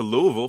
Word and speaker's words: Louisville: the Bowling Green area so I went to Louisville for a conference once huh hey you said